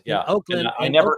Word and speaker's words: Ochlan: Oakland. It's Oakland, so it's a O, not an Ock.